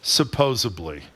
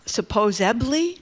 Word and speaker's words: supposedly: It's a mispronounced word. Supposably. I mean, does that not supposedly that's what a ton of people say that I didn't know that you said supposedly.